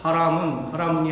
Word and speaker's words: 하아문: 이게 하아문이 발음하기가 그랬잖아요. 여기에 국어가 또 나와요. 유음화. 하아문이 하아문 하는 것보다 하라문이 하는 게 더 부드럽게 가잖아요.